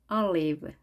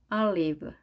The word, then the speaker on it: olive: olive, olive. 자, 우리는 올이라고 발음하지만 영어는 olive, o와 i의 중간 발음을 하시면 되겠습니다.